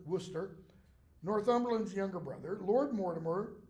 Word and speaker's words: Worcester: visit then you have Earl of Worcester not Worchester Worcester northland's younger brother Lord